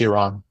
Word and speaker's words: Iran: It's Iran.